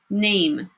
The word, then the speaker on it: name: it with four letters because there's that silent Vasya mama e at the end making the a say its name hmm a hmm look